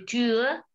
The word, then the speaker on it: Tür: Die Tür, zum Beispiel, die Tür itu adalah pintu. Kenapa Tür itu ada umlaut dibacanya Tür, coba dibaca di Tür. Sebentar ya, saya tulis dulu. Umlaut. Tür. R-nya agak sedikit di tenggorokan ya.